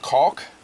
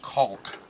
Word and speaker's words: caulk: window and trim adhesive caulk. Yes, I said caulk. You never pronounce the U quite so hard as when you're saying caulk. Or the L, excuse me.